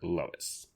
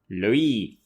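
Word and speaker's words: Loïs: her ex-girlfriend / editor, Lois. Or Loie. Loie, because it's French.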